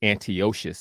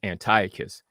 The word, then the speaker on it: Antiochus: So you always hear people say Antiochus Epiphanes, right? But it's actually pronounced Antiochus. But no matter how many times you say that, ain't nobody trying to say Antiochus. Everybody gonna say Antiochus because that's just how we say it.